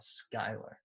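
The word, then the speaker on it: Schuyler: what competitive eater Molly how do you say that name Skylar really I only know that because I've seen people with the first name Skylar to spell it that way so it could also be Schuler it spelled you listening watching s CH u y le r Skylar yeah it could be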